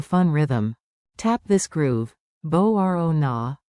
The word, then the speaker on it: Μπορώ να: Bo-ro na, bo-ro na. Μπορώ να. Emphasize the rising, ro.